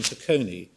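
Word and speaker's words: Taconi: And advocate uh General Hilhut in Takonei. Um uh I don't know how you would pronounce it in English, but in Dutch it probably Takone T A C O N I.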